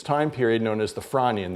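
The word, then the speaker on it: Frasnian: period known as the Franian. The S is silent of 382 or so million years old.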